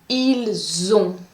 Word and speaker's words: ils ont: Pour avoir, the pronunciation is different. You are going to say ils ont.